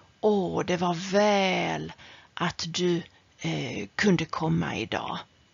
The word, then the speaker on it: väl: Om du säger väl med långt ä, då betyder det samma som bra. Åh, det var väl att du kunde komma idag.